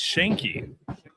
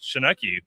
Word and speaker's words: Schenk: And And I'm glad he's here to help me pronounce uh his uh his co- guests last name. It's It's Shanki. Shanki. Yes. I was shocked because I thought it was Shanei based on the spelling, but it's Shanki.